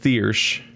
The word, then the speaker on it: Thirsk: Thirsk is pronounced Thiersch. It has the Y and the SC.